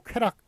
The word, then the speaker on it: 쾌락: 그런데 요 쾌락 흔쾌히 수락한다라는 그 쾌락 같은 경우에는 요 락이 원래 낙자입니다. 낙인데 예, 이렇게 락으로 잘못 발음해와서 그래서 요거를 예, 그냥 맞게끔 소금으로 발음하는 걸 맞게끔 한 그런 예가 되겠습니다.